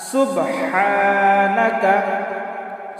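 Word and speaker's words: سُبْحَانَكَ: সানা সুবহানাকা। সুবহানাকা। সম্মানিত দ্বীনি ভাই ও বোনেরা সুব সুব হা আলিফ জবর হা এক আলিফ টান দিব এটা হল বড় হালকের মধ্যখানিকে একটু চাপ দিয়ে উচ্চারণ করতে হবে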